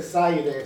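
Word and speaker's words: Césaire: Y y en ese texto precioso, Aimese Saire se escribe, se pronuncia con Creire S a I, no i r.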